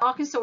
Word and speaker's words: Arkansas: next door to Kansas so I know that looks like you pronounce it as bad Kansas but it's Arkansas so nine back students